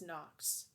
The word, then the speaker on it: Nox: It's Nox. N-O-X. It's a simple name. It's easy to pronounce, easy to spell, much not similar to